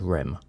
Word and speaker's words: REM: he explained to me ADM and RM pronounced ad and REM considering your placement in